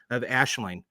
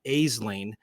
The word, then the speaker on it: Aisling: But I have to make mention of Aisling. It looks like Aisling, but she pronounced it Aisling, and it's Aisling Slim, and she lives up in Northern Ireland.